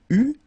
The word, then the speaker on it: eut: Okay, so j'eus, final S not pronounced, tu eus, final S not pronounced, il eut, final T not pronounced, elle eut.